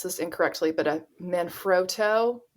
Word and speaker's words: Manfrotto: always will probably pronounce this incorrectly, but a Manfrotto, It's Oh, an yeah. Italian brand, very well known. I like how you said it. Manfrotto.